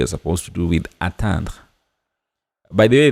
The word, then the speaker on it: attendre: By the way, there's a difference between these two words. As I've mentioned, attendre is to wait, attendre is to attain. I don't know if you can hear clearly the difference in the pronunciation. Attendre and then atteindre. Attendre, atteindre.